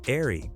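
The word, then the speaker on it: Eahry: Designed as a design forward evolution of the Eagle Vision sedan, the airy, pronounced airy, was meant to show what the future of the Eagle brand could look like.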